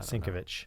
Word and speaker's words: Sienkiewicz: Yeah, so I've always heard it pronounced as Sienkiewicz, but that's it, Sienkiewicz.